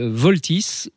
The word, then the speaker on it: Vaultys: Alors voilà, pour résoudre ce problème de piratage finalement, Voltys, ça s'écrit VAULTYS, je l'épelle parce que c'est important.